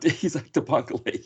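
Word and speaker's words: Isaach de Bankolé: Isaac de Bancole, yes.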